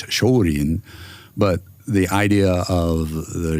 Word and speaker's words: Shorin: They couldn't really pronounce Shaolin, so it comes out as Shorin.